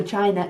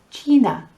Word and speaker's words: China: And with I, give me an E. The letter I is E, A, E, I, O, U. So China is China.